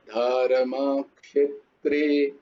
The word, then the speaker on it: ধর্মক্ষেত্রে: ওইটা কিরকম উচ্চারণ হবে বলো তো? ধর্মা ধা ধর্মা ক্ষেত্রে, ধর্মক্ষেত্রে নয়, ও, ধর্মক্ষেত্রে, ক্ষে ধর্মক্ষেত্রে, বলো ধর ধর্মক্ষেত্রে।